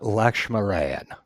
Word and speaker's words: Lakshminarayan: Lavanya Lakshminarayan. Yes. Nailed it. That's how my audiobook person pronounced it.